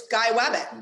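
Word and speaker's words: gey wabbit: Oh, it's two parts. It's Guy Wabbit.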